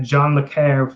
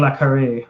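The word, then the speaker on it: le Carré: clinical spook speak that john mccair fans with laptop um john la carre i think it's actually pronounced fans lapped up and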